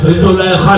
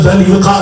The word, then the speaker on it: زلیخا: ایسے میں زلیخا سے، زلیخا لوگ کہتے ہیں صحیح تلفظ میں زلیخا ہے، تو زلیخا سے پوچھا